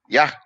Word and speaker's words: Yah: How do you pronounce it? Yah. Yah.